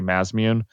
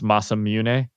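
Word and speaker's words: Masamune: however you pronounce it I used to say Mass immune uh growing up cuz that's how people who pronounced it when they played the original Final Fantasy and talked about it they used to say mazmun but uh I guess it's masam mun yeah masam mun masam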